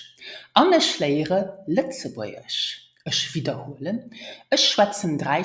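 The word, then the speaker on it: Lëtzebuergesch: Pronounce it Litzebäuerisch. Let's try it together. Ich schwätze Litzebäuerisch.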